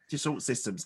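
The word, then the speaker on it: Dassault Systèmes: So was it, I don't know how to pronounce, Dassault Systems? Yes. Dassault Systems.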